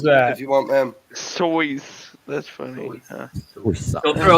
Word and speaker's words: Seuss: However, the author himself said his name should be pronounced as Sois.